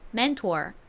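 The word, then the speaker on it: mentor: 멘토월이라고 읽죠 따라해 보세요 맨투어 좋습니다 한국식으로는 멘토라고 하지만 미국식 발음은 r이 들어가서 맨투어이라고 발음합니다 자 다시 한번 정리해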